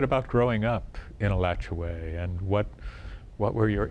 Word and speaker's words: Alachua: city of alachua way we were having a discussion with some young people about the pronunciation of a lottery it went on and on and on and i just left it alone but you you come down with the latch away i like your way okay i was born